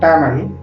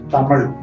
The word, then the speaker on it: Tamil: Though commonly known as Tamil, its actual pronunciation is Tamil. Hereafter, we will refer to it by the correct pronunciation Tamil.